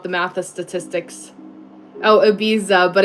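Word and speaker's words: Ibiza: Oh, abiza, but it's abiza. Abiza. Abiza. The lisp thing happens there, right? With the z.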